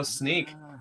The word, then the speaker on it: Snyk: so now you know so now you know sneak is is the is the is the way we say this I didn't want to